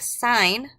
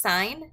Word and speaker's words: sine: of them we have sine of theta sine of theta is typically abbreviated just as SI n it is pronounced sine not sin do not say sin it is a sin